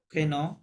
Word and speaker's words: prénom: prénom, প্রেনো, নম না, প্রেনো, prénom, right, prénom, প্রেনো, prénom et notre নথ, nom, ন, রাইট।